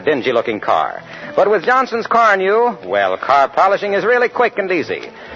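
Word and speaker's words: Carnu: polish your family bus with quick polishing Johnson's Car New this week? Car New is spelled C-A-R-N-U.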